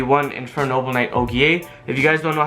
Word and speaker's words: Ogier: to pronounce this word it's not ojur it's not ogre it's og um these guys are french so just like how it's oliver um it's olivier and just like ogre it's oh ogier so yeah you got to pronounce that og but yeah and then